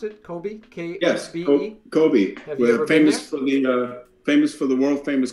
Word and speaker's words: Kobe: Is that the right way to pronounce it? Kobe? K-S-B-E? Yes, Kobe.